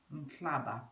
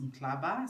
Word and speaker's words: Mhlaba: Mhlaba, pronounced Mhlaba, spelled M-H-L-A-B-A, Mhlaba.